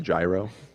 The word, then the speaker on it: gyro: you got me that beef euro with french fries god bless america it's pronounced gyro are you [ __